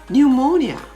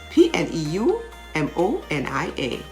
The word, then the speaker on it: pneumonia: how about silent p-words coo c-o-u-p the p is silent pneumonia how would you spell pneumonia p-n-e-u m-o-n-i-a pneumonia receipt p r-e-c-e-i-p-t receipt psychic p